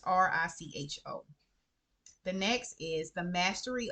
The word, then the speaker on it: Richo: I think his name is pronounced Richo or Rico. It's Richo.